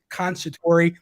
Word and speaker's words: Conciatori: I have the one and only Miss Conciatori.